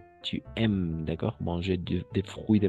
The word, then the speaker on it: aimes: O sea, A, I, E, y solo vamos a pronunciar hasta la M. Tu aimes, ¿d'accord?